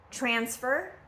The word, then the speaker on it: transfer: Transfer versus transfer. Again, transfer is the noun. Transfer is the verb. Okay? So nouns, you're going to always stress the first syllable, present, and verbs, you're going to stress the second syllable, present.